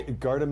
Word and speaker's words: Gardham: do you pronounce it I guard him is the way we kind of did it but if you get to guard him yeah you want to say guard him but yes okay so